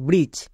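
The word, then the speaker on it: bridge: আমি এক্ষুনি বললাম যে জি এর আগে ডি থাকলে ডি টা সাইলেন্ট তাই এখানে ডি এর উচ্চারণ হবে না বি আর আই জি ই ব্রিজ ব্রিজ একে ভুল করে কেউ ব্রিজ বলবে না পরিষ্কার এর উচ্চারণ ব্রিজ নেক্সট এজ এখানেও দেখো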